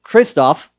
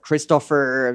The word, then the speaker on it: Christoph: yes to be honest nobody gets Christoph right it's Christopher it's like all those